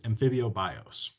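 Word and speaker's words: ἀμφίβιος: So amphibian it comes from a Greek word that looks like this, and we can pronounce this amphibios.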